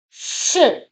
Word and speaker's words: 是: It's pronounced with the fourth tone, a falling tone. Shi.